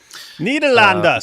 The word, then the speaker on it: Nederland: Nederlanden, say it right.